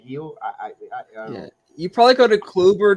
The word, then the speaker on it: Gil: the mario it's called it's spelled gill but for some reason they want to call it heal you probably go to